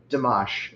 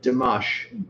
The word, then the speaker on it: Dimash: I have we have never listened to uh Dash if I'm saying that correctly. How do you spell that? D I M A S H. He's from Kazakhstan. Uh, what was that after the N? A. Damash.